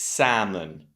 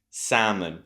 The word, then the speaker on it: salmon: The letter that's not pronounced is the L. So we do not say salmon. No, salmon, never. It's salmon, salmon.